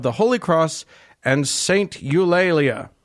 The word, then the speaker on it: Eulalia: Eulalia or la Lea or however you want to say it how do you spell it EU la laa la yeah yeah you lately you lately sure why